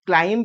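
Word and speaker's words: climb: letter एडा नुह हां which letter in the word क्लाइंब इज not pronounced क्लाइंब हमें क्लाइंब कहूचे मोस्टली तो बी एटी प्रोनाउंस हो नाही इंडियन फॉर्म रे क्लाइंब रे सीएल अछि एल अछि आई एटी प्रोनाउंसिएशन हुएनी क्लाइंब ठीक अछि प्ली आई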